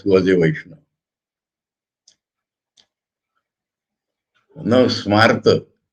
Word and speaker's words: Smarta: Now Smarta, the pronunciation is similar to an English word. Smart.